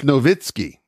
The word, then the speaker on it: Nowitzki: Dirk Nowitzki. It's Nowitzki.